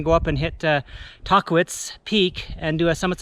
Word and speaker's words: Tahquitz: it chocolates she said rock climbers call it talk eats and the the indigenous people called it taqwish so but uh locals